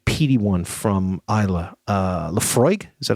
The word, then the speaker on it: Laphroaig: Uh Laphroaig? Is that how you pronounce it? Laphroaig? I think. Laphroaig, yeah.